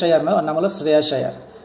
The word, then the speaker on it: শ্রেয়াস আয়ার: সো ওনার নাম হলো শ্রেয়াস আয়ার। ওর নাম সুয়েশ আয়ার নয়, ঠিক আছে? সুয়েশ আয়ার নয়, ওর নাম হলো শ্রেয়াস আয়ার।